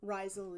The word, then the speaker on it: Reizl: Reizl is like um Rachel.